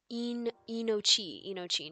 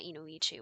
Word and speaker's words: Inochi: Inochi, not Inoichi. What was I doing putting an extra I?